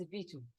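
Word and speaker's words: Bijou: My name is Biju, B-I-J-O-U. I can spell it.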